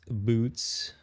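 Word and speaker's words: Butz: arrested was an unlucky sap dating her Larry butts that's right Larry butts actually it's pronounced boots at my best friend since grade school the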